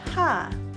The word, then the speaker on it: 하: Among the 5 syllables, the third one, ha, is a combination of a consonant that has h sound and a vowel a. So it's read ha.